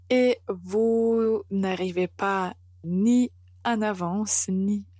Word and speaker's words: en avance: une voyelle a avance il ne faut pas prononcer de façon nasale en mais en fait il faut connecter avec avance et comme ça vous